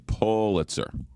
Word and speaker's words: Pulitzer: It's pull as in pull you in, Pulitzer.